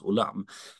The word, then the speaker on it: Olam: bilden där det där ska tydligen uttalas Olam Eh har jag fått